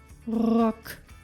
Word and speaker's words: Rock: shoe sounds like and makes the preceding vowels short as in the word Rock Rock meaning skirt St and s p at